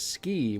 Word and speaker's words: Skie: later found out is they pronounce it as ski which is stupid yes so we're gonna